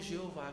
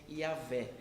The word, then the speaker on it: Yahvé: a gente não sabe, vamos pegar as vogais da palavra Adonai, que é Senhor, e vamos encaixar nessas consoantes do nome de Deus, para a gente pronunciar alguma coisa, e aí virou o Jeová que a gente conhece. No século XIX, cristãos alemães, pesquisando, chegaram à conclusão que é Yahvé.